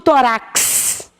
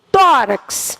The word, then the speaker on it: tórax: tônica na penúltima sílaba eu não digo tórax eu digo tórax quando eu digo tórax eu tenho aqui ó a minha tônica ó última letra x a tônica não está na última está na P no última